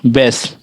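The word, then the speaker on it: base: जैसे यहां पढ़िए बैक बेस देखिए बेस। ई को हम नहीं पढ़ रहे हैं।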